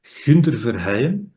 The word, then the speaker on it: Gunther Verheyen: So, my name is Gunther Verheyen. That's Mhm. how we would pronounce it where I live. And I live in Antwerp, in Belgium.